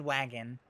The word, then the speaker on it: wagon: He can't say the word wagon. He says waggin.